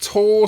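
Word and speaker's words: Tau: town getting its name from Tao the Greek letter uses a symbol of life and Resurrection it could also be pronounced tall so it could be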